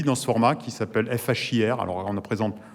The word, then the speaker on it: FHIR: ce format qui s'appelle FHIR. Alors, on prononce ça Fire en américain, c'est pour ça qu'il y a la petite flamme, etc.